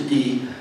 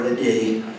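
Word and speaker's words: idae: It's pronounced a D or a D.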